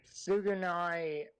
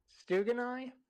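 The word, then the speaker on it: Tsugunai: Sugunai. Okay, so S-U-G-U-N-A-I. You forgot the T at the start, but yes. Stugunai? No, the T is silent.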